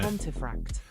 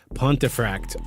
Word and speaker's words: Pontefract: How do you pronounce How is that pronounced? Say that again. How did Cuz I I know I'm going to Pontiffract. Pontifract.